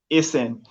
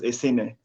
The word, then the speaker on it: Esene: And I'm so happy that sorry, when we started this section, I pronounced your surname as Esen. Is when you now pronounced it that I realized that it was Esene.